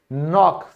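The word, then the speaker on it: knock: ज्ञान यानी कि नॉलेज, तो देखो भाई एन से पहले आएगा तो के साइलेंट हो जाएगा। फिर है खटखटाना, तो इसे भी हम क्या कहते हैं, नॉक।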